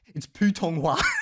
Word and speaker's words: Putonghua: Like I'll talk with him and like I'll say Chinese and he'll be like, bro, it's Putonghua. Like we even spell it wrong, okay?